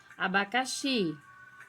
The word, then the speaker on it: abacaxi: Abacaxi. Xi é a sílaba tônica, é a mais forte.